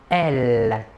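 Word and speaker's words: elles: Et le pronom personnel sujet féminin de la troisième personne du pluriel est elle. Même chose que pour le masculin, la S finale ne se prononce pas.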